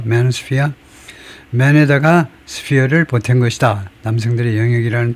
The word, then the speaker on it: manosphere: 발음은 매스 매노스피아 그 뭐 특별하진 않고 맨 앞제를 엑센절 두면 되고 매노스피아 맨에다가 스피어를 보다 남성들의 영역이라는 뜻을 조합보다 2000년대 후반 2010년 인터넷 포럼을 정시로 사용된 단어다 그렇네요.